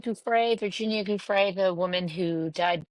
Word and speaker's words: Giuffre: Giuffre, Virginia Giuffre, the woman who allegedly died by suicide after the Trump, Jeffrey Epstein's files.